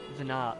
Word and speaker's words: Venat: The T is silent in Venat. Venat, oh. Okay, like Dumas.